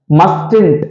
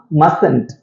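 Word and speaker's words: mustn't: போட்டு இருக்கேன் எப்படி வாசிப்பீங்க மஸ்டன்ட் அப்படின்னு நம்ம வாசிக்கக்கூடாது ஓகேவா இந்த டி வந்து சைலென்ட் உச்சரிக்கணும் எப்படி வாசிக்கணும் அப்படின்னா மசன்ட் மசன்ட் ஓகே மஸ்டன்ட் கிடையாது மசன்ட் ஓகே சோ மசன்ட் அப்படிங்கறது எதோட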